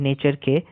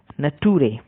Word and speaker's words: nature: এটাও একটি ভিডিওতে দেখেছিলাম, ইউটিউবে বেশ ভাইরাল হয়েছিল, যেখানে একজন টিচার পড়াচ্ছিলেন নেচার, NATURE নেচারকে নাটুরে, আর FUTURE ফিউচারকে ফুটুরে, নাটুরে ফুটুরে, এরকম উচ্চারণ করছিল।